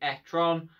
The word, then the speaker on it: e-tron: Yes, you do pronounce it e-tron.